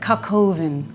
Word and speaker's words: coq au vin: French do chicken stew I'd like you to pronounce that coq au vin so I want you to say I've made